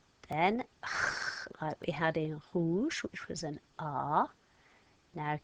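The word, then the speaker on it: rouge: you don't say e you normally never say an e on the end of the French word so you write it but you don't say it so what you're gonna write it on your paper but when we say it hoosh we're not going to sound out the e so green was ver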